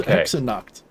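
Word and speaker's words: Hexennacht: with the pronunciation there x h e x e n n a c h t yeah hecks are not that's hexa knocked okay so i'm not just going so knocked is knocked is the word for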